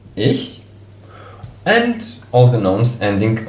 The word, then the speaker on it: ich: All the nouns ending on ich, pronounced really like the personal pronoun me, ich, and all the nouns ending on ich are also masculine.